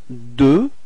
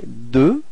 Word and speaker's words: deux: So now, deux. Okay? Final X is not pronounced. Okay, deux, repeat.